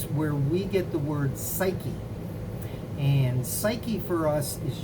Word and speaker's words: psyche: you know puke but the p is silent it's where we get the word psyche and psyche for us